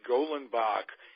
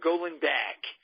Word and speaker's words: Golenbock: and you notice Peter I'm pronouncing it golen Bach after all these year months no longer going back so um you say